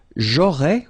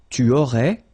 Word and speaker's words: aurais: J'aurais, remember, final S not pronounced. Tu aurais, same thing here, final S not pronounced.